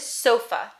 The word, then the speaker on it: sofa: next word is sofa sofa also two syllables which one's stressed sofa sofa it's the first and so the uh sounds in the second syllable so this is an opportunity for us to use the schwa so it looks like